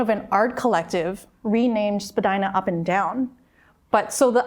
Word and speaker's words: Spadina: any sense to anybody why we say Spadina instead of Spadina. But Spadina is correct.